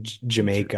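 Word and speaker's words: D'yer Mak'er: say it's Dire Maker, Yeah, and apparently in the UK they don't say Dire Maker, they say it like Jamaica or whatever.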